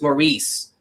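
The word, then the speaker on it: Maryse: according to Al Roker who pronounced her name wrong it's Maurice why are you there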